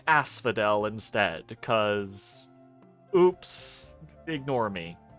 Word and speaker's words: Asphodel: watching this series please ignore me saying Ash Fidel for the first probably 10 turns of the game um and imagine me saying Asphodel instead cuz oops ignore